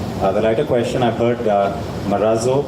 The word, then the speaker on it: Marazzo: the daughter it the writer question I've heard Meraz oh Murat sue and Matsu what's correct yeah so the correct pronunciation is Bharat sue and as you know the origination of it